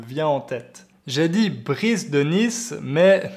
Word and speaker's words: Brice de Nice: en tête j'ai dit brice de nice mais normalement il faut le prononcé avec un faux accent anglais ben reitzes de nice c'est un personnage qui